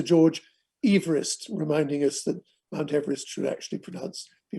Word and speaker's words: Mount Everest: done by Sir George Everest, reminding us that Mount Everest should actually be pronounced Mount Everest.